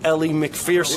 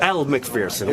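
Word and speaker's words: Elle Macpherson: The whole time, I didn't know it was over Ellie McPherson. It wasn't. Elle McPherson. Whatever the hell. It wasn't. I didn't know you said her name wrong until you said it on wrap-up.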